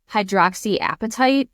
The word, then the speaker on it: hydroxyapatite: But we can also use something called I may be pronouncing it wrong. Hydroxyapatite, I think is how you say it.